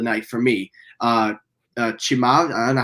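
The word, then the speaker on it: Chimaev: one of the night for me uh uh chimag i don't know how to say his name i forgot how you say his name chimayev yeah thank you uh he was coming in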